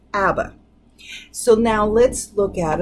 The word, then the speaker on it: ABBA: And when we put them together as an acronym and it's pronounced as a new word, that's the important part.